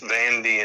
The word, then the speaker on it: Vanda: See, your aunts were Vanda and Loney, right? Lona. And That's Vanda. a cool name. Now they were pronounced Vandy and Loney.